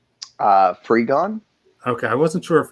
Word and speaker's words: Frigon: woman who plays lynn miranda how do you pronounce her last name uh free gone okay i wasn't sure if it was frijon